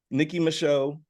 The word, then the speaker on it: Nicki Micheaux: Welcome to the show, Nicki Micheaux.